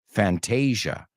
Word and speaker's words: Fantasia: Well, in English, we pronounce it Fantasia. O sea, como Asia, Asia. Fantasia.